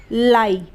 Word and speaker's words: lie: जैसे लाई, LIE लाई, तो लाई में IE आ रहा